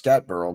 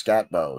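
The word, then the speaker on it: Skattebo: I'm not sure how to pronounce it. I thought it was Scatburrow, but I think it's Scatbo. So he's the running back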